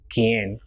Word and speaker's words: quien: And if it is QUI, it will be pronounced as ki and not qui. So it will be quien.